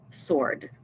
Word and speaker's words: sword: et le mot Sword même s'il y a un W on ne prononce pas le W on le prononce comme si c'était s Sword servant read the senten